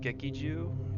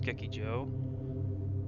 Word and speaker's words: Gekijo: Like, I was calling it Gekiju. It's actually, like, I think they said it was Gekijo.